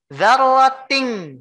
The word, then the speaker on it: ذَرَّةٍ: Dzarratin. Ya, ini dzarratin dibacanya. Dzarratin. Kenapa dibacanya ting bukan tin? Ya. Singkatnya karena ini mengandung hukum ikhfa.